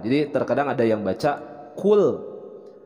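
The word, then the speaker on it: قُلْ: ada yang baca Qul Padahal di sini adalah huruf qaf jadi bacanya Qul nah tentu ini akan berbeda terhadap makna merubah makna kalau cool pakai huruf Kaf artinya Makanlah dan ini pakai huruf qaf dibacanya cool kalau cool adalah Katakanlah Oke kemudian yang selanjutnya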